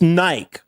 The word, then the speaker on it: Nike: Hey, I'll pronounce You know, it's Nike.